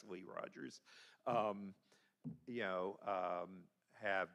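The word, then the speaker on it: Hazelle Rogers: I know Commissioner McKenzie, Commissioner Hazel Rogers or Hley Rogers, everybody's been mispronouncing her name for decades. It's actually Hley Rogers.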